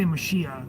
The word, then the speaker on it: mashiach: as like you know you say mashiach so it's pronounced a little bit different but it's the it's